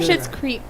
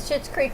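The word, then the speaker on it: Schitt's Creek: do you do with your hair it's from shit's creek if you watch it shit's creepy you shouldn't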